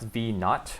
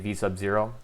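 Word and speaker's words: v₀: This is pronounced V naught, or if you want to say V sub 0. V naught is just a much more conventional way of going about it.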